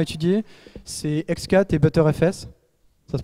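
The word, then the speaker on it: Btrfs: C'est X4 et ButterFS. Ça se prononce vraiment comme ça.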